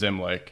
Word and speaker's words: Zimlich: It's spelled differently. Yes. Common question. So our last name is Zimlich.